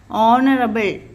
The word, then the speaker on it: honorable: silent o pronunciation honest H silent or pronunciation honorable so hence three words